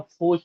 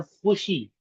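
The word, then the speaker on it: خوشی: जबकि हम फूश नहीं कहते, हम कहते हैं खुश. इसी तरह हम कहते हैं खुशी. खुशी में वाव आता है लेकिन हम फूशी नहीं कहते, तो इसे खुशी. तो वाव इज साइलेंट.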